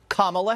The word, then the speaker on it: Kamala: Kamala Harris so now we know how to pronounce her name Kamala Harris okay and this is her talking to